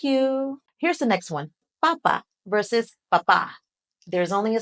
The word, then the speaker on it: papa: For potato, you want to keep the sounds in both syllables exactly the same and say them quick. Papa, papa.